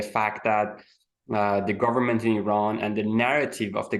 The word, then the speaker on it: Iran: But yeah, like I want to just like have this opening here that the pronunciation is Iran, it's not Iran.